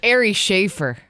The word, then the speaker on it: Ari Shaffir: see comedian Ari shaffir did I say it right yeah yeah that was incredible because now we've said it wrong a few times or I'm confused it's Ary schaer that's how you said it yeah and then